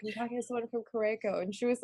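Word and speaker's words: Curaçao: I thought it was Curacao, and I was like, Yeah. telling my sister, she travels widely, and I was like, I'm talking to someone from Curacao, and she's like, oh, okay, where's that?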